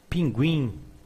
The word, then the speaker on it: pinguim: But in some cases, we pronounce the U. In all the books, you can see this signal, trema, 2 dots over a letter, indicating that the U is pronounced. Pinguim, ambiguidade, unguento.